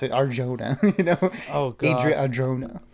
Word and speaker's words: Adria Arjona: Adria Arjona. I hope they don't say Arjona, because that's like, no, you ignorant slut. Don't say that. Yeah, say it with the accent.